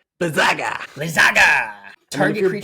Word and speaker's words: Blizzaga: You got to say it right. Blizzaga.